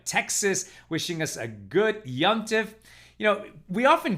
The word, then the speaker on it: Yom Tov: It's Yomtiv, right? It's really Y-O-M-T-O-V, but we just say it fast and it becomes Yomtiv.